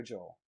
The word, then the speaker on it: Joel: it's fine uh no I go Joel Joel like Paul like Soul how about that huh